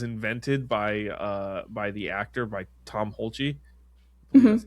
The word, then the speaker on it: Tom Hulce: And like this laugh was invented by the actor, by Tom Hulce. That's how you pronounce it.